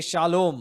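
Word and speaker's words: שָׁלוֹם: The dot above Lamed we pronounce it as Lo.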